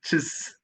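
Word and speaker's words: xis: In Brazil, they say the letter X, which is pronounced something like chis.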